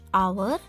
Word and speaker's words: hour: H sound we don't hear. We say the word from O.